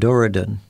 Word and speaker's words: Dorudon: Now, for example, the species of whale that are buried in the Sahara are pronounced Basilosaurus and Dorudon.